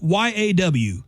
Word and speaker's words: y'all: People in this part of the country, when they say y'all, pronounce the L's in y'all. Y'all. Y'all. Y'all. Or at least get started, I say y'all, like YAW, y'all.